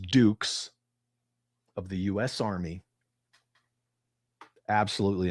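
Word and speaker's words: Dux: Johnny Cage was inspired by Captain Frank Dukes, spelled D-X, pronounced Dukes, of the US Army.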